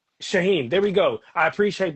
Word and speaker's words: Shaheen: I don't want to I don't want to mispronounce. It's all good. It's Shaheen. Shaheen.